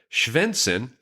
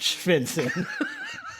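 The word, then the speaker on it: Stjärnsund: spell this for you let me spell how shenson is spelled shenson s t j a r n m u n d pronounced oh that's pronounced senson I'm telling you I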